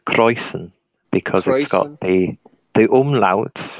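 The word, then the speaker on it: Kräusen: world of German brewing its browsing Roberts actually pronounced croizon because I thought they they allowed birthday the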